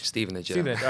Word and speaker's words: Stevenage: Now you came here from is it I pronounced right? Stevenage. Stevenage.